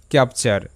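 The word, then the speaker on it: capture: সো টি ইউ আরই এর উচ্চারণ হবে চার। এখানে ফাস্ট শব্দ যদি আমরা দেখি ক্যাপচার ভেঙ্গে নিতে হবে এখানে।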